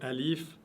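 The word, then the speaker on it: ألف: Il y a alif, qui est une lettre c'est le A. Donc c'est facile pour vous français de prononcer cette lettre. Vous avez le alif et vous avez le ha.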